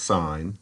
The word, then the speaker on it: sine: way you pronounce these these are abbreviations but this is pronounced sign this is pronounced cosine